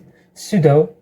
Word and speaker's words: pseudo: one Pudo Pudo pseudo pseudo okay uh it's used for specifying pseudo classes in CSS and I asked him what is Pudo the answer is PSE sudo which in fake classes